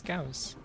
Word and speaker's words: Gauss: And it's like it's a German name, it's Gauss.